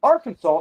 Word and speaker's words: Arkansas: But when you see Arkansas, it looks like Kansas. But they pronounce it Arkansas.